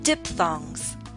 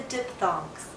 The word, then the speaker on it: diphthong: Pronunciation of English Vowel Sounds. Lesson 5. Diphthongs. Hello everyone. It's finally time to talk about the last group of vowels, the diphthongs.